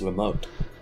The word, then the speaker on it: Lamotte: Oh, it's Lamotte. Good thing I've been pronouncing that name all wrong the entire time.